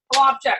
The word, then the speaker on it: Flopcheck: How do you say your last name? Flopcheck. Yeah, that's how you say that.